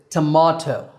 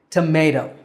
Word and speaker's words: tomato: and Brits disagree on for Americans that syllable is May tomato and for Brits it's ma tomato tomato tomato now we've talked about